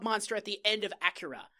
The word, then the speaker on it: Akira: Okay, first off, it's Akira, you fucking weeaboo. It's technically pronounced Acura. Shut the fuck up. How they, in the original Japanese.